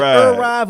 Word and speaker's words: ERYVE: Am I pronouncing it right? Is it ERYVE or ERYVE? Yeah. It's ERYVE. Okay.